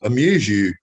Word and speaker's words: Amuzu: We pronounced it Amuzu, from amuse and you, AMU, like AMUSE and YOU.